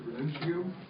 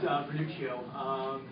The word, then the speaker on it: Vernuccio: We'd like to hear now from Mr. Venuccio. If I'm not pronouncing that correctly. Thank you, Mr. Chairman, and yes, Vernuccio.